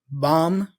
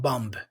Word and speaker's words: bomb: a little rule okay words that have this MB combination usually have the B silent so climb bomb okay there's a bomb here not bumb okay c i c